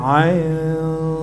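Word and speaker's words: عين: Nah, ain itu nggak ada harokatnya, maka dibaca 3 alif.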